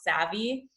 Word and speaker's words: SAVI: You guys may all know about this, but they're a startup called Savvy. I think it's spelled SAVI, but if you search Savvy student loan debt, you can find this.